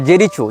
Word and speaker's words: Jericho: लेकिन इजराइल हो या फलस्तीन हो, इसने जेरिको या जेरिचो, जो भी इसका उच्चारण भाषा में किया जाता है, JERICHO, जेरिचो या जेरिको, जहाँ तक जेरिको होना चाहिए उच्चारण, ये फलस्तीन का प्रांत